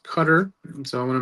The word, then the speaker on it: Qatar: heard the pronunciation for it's not Qatar, it's Qatar.